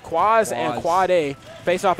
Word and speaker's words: Kwaaaaz: Kwaaaz, and I say that how it's pronounced. Kwaaaz and Quad A face off against Free Candy,